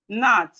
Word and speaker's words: gnat: Then we have nat.